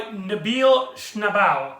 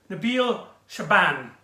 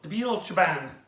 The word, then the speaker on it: Nabil Shaban: And he's played by Nabil Schnabel. I'm probably pronouncing his name wrong. Nabil Shaban. There you go. Nabil Shaban.